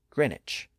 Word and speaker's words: Greenwich: green witch which became Greenwich it's spelled g re n wi C but we don't pronounce the W today and if you're a